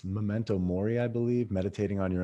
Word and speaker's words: memento mori: is the how do you say it it's memento mori i believe meditating on your own death when